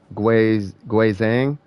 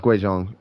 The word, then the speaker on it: Guizhong: This is how you pronounce it, I think. Guizhang. Yeah, no, it's Guizhong.